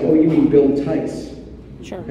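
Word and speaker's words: Theiss: for the star trek costume designer and i mispronounced his name i said william where uh theis and the operator said oh you need bill tys i said sure so she connected the call and mr tice answered the phone and that was the phone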